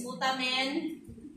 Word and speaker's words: putamen: Cutamen iyung correct pronunciation niya.